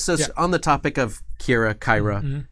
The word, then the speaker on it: Kyra: At that point, I will tell whoever's making this, like, it's pronounced Kyra, it's pronounced Iomade, it's pronounced Yonda-Bakari.